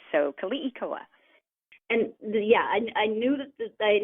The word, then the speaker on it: Keliikoa: Yeah, it's Keliikoa. So in Hawaiian, all the vowels are always pronounced, but sometimes very quickly. So Keliikoa.